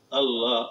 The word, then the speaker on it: আল্লাহ: আল্লাহ আল্লাহ আল্লাহ লেখতে শেষে আল্লাহ যে লেখে আমরা সেপাড়ায় পাই, আমপাড়া পাই, কোরআনে পাই, লব্জাল আল্লাহর পরে একটা হা আছে, গোল হা, আল্লাহ।